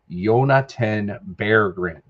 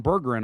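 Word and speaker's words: Jonatan Berggren: Um and I'm on I'm on hockey reference right now and the pronunciation for you is Yonaten Bergrren. Whoa. Okay. Okay. So, they were calling him Burgin all night.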